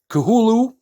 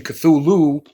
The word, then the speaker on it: Cthulhu: the great old ones as lovecraft would have pronounced it kahulu and the pronunciation cthulhu with the extra t in the middle came much later due to a um a game that was put out the call of cthulhu but he is kahulu and he is here